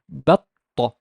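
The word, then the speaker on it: بطة: And here also there's shadda on fatha and fatha on the ta, so it's batta, batta, batta. The ta is more doubled. Batta, batta.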